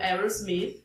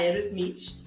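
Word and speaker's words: Aerosmith: Uma das minhas bandas favoritas é o Aos Smith que a gente acaba portuguesando a pronúncia para a Eros Smith.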